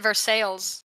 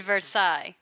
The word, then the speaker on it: Versailles: I think here we pronounce it Versailles. because we're uneducated. I mean, but the one in France is indeed Versailles.